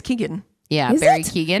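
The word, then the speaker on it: Keoghan: it's Barry Kehoe? I don't know how you Keegan. pronounce his last name. I think Keegan. it's Keegan.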